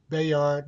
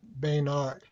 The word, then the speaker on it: Bayard: or wrote mr rustin's first name bayard not bainard thank you for that correction